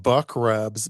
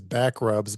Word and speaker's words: Buck Rubs: called Back, or no, I was about to mispronounce it. We're going to a place called Buck Rubs, but I thought initially I was about to read it as Back Rubs, but it's called Buck Rubs Buck.